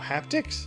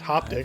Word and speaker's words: haptic: Oh, haptics? Yeah. I think it's haptic, not hoptic.